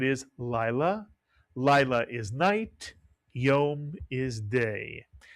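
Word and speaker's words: יום: 1 vowel, 1 syllable, a word you've heard often. Yom is correct, and Yom means day.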